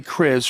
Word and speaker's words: Kriz: Yes, Chris is correct.